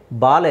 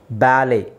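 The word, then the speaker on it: ballet: ನಾವು ಲೆಟ್ಸ್ ಸಿ ಬ್ಯಾಲೆ ಇಲ್ಲಿ ಟಿ is silent T ನ ಸೈಲೆಂಟ್ ಮಾಡಬೇಕು ಬ್ಯಾಲೆ ಬಾಲೆ ಅಲ್ಲ ಬ್ಯಾಲೆ ಬ್ಯಾಲೆ ಬ್ಯಾಲೆ ಹಾಗೆ ರಾಪೋ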